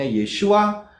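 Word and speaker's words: ישוע: sang Putra itu bacanya Yod Shin W Ain bacanya yesua sa lihat berapa huruf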